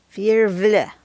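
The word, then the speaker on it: virvle: to call it v-i-r-v-l-e and it's pronounced fearless if you wonder how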